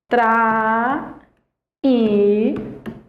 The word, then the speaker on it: traímos: E aí sobrou traímos Olha a pronúncia de traímos você tem aqui ó tra imos em traímos Esse i